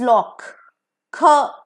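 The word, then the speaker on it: loch: अ लॉक एओ सीए लॉक इज not pronounced as लॉक इट इज लॉक ख आ रहा है last में सो एलओसी लॉक इज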